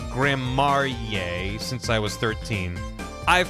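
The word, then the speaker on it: Gramarye: It's pronounced Grammarye since I was 13.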